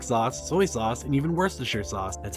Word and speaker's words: Worcestershire: as A1 steak sauce, soy sauce, and even Worcestershire sauce. That's how you pronounce it by the way.